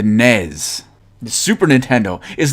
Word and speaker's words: NES: it is not the NES it is not the Ness it is in fact the nez Super Nintendo is not